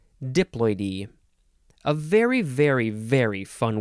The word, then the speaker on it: diploidy: all I can gather diploidy diploidy is a noun and I think you emphasize the D diploid e a very very very